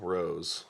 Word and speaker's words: Rohs: it'll come up uh my last name is spelled r-o-h-s it's weird you're like lemon balm Rose yeah absolutely right on well thanks for